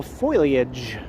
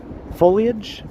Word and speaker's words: foliage: They're putting in a nice colorful foilage. Is that how you say it? Foliage. Foliage.